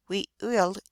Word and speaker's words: Weewillmekq: The correct pronunciation is very early Weewillmekq for both Penobscot and Passamaquoddy, but this would be a difficult utterance for anyone who has never listened to the Algonquin soft gutturals.